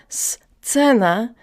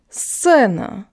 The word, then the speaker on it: сцена: So it's not сцена, it's сцена, сцена.